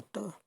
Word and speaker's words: 得: 到的东西那个得，念作轻声，吃得好。